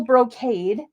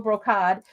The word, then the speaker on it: brocade: to say it because I always said cod, royal brocod. Um, but I think that's the British proper way of saying it, I think, but we say brocade here.